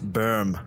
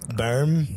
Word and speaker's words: Boehm: meet German people they're like you know you mispronounced that name I was asked should have a new modern NBL it's like berm berm and but I'm like come on you know